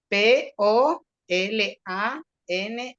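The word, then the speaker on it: Polanyi: sé si lo conocen no describí describí Cómo se escribe p o l a n y y polan Pol y el nombre es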